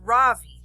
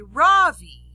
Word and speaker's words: Ravi: is ravi it's pronounced ravi with a soft raw and a strong v in sanskrit it means the sun in america people call me ravi with the stress on the first syllable that doesn't mean anything